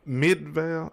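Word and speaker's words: Midvale: That man said, "My name is Michael from Mid Midval." That's how you pronounce that.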